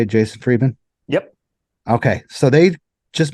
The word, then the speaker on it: Friedman: Is that how you say it, Jason Friedman?